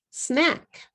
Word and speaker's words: snack: okay here's another one snack snack snack is one syllable if you say it in Katakana you're going to have three syllables you're going to ch change a on syllable word snack into a three syllable word Su not good so all of these